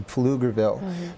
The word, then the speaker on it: Pflugerville: one in Austin and one in Latin often pronounced incorrectly Pflugerville the other part that I've learned is that